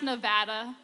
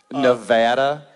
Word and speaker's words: Nevada: Reno no it's pronounced Nevada not in Texas it's not I don't know how you West coasters pronounce things but down where the salt of the earth NADA Nevada it's pronounced Nevada it's Neer thanks Diane